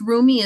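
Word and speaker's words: Rumi: rights to using his work do that rich roomie is spelled Ru m i so a lot of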